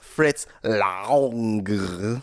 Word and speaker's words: Fritz Lang: Lex, today you brought in the 1931 movie M from Fritz Lang. That's it. That's the correct pronunciation.